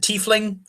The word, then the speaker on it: tiefling: Ezra is titling rogue yes I pronounce it titling not tickling there's a TIE fighter his tie you tie a knot titling see I know everyone calls it tiefling I know that it might officially be termed tiefling I also know that